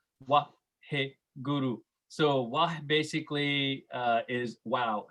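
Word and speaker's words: Waheguru: Anyway, so Guru mantra is, how you pronounce it is Vaheguru, Vaheguru.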